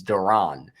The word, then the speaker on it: Duran: That was He literally once made a video saying how to pronounce his name. It's It's Duran.